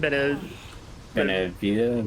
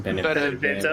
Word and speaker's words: Benevento: Benevita? Benevento.